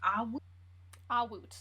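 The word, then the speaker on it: Awut: and did you say the other name was ah ah woot yup a-w-u-t oh that's not how i spelled it but can you spell it again a dash w okay so this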